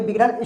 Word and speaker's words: bogey: अब बोगी क्यों पढ़ेंगे, अगर आप कोई बिगिनर स्टूडेंट है, अगर वो यहाँ पे अगर ये